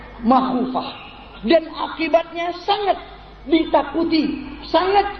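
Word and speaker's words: مَخُوفة: Wa aqibatuhu makhufah bi fathil mim, bacanya makhufah.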